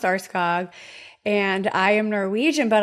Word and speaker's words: Aarskaug: Uh, it's uh, Arscog, pronounced arskog, and I am Norwegian, but I am also a little bit German myself.